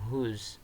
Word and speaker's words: who: terus hus itu dip eh dilafalkannya huruf huruf w-nya itu enggak usah dilfalkan you don't need to pronounce Sounds w w we w nya gak usah dilfalkan cukup langsung who who bla bla bla is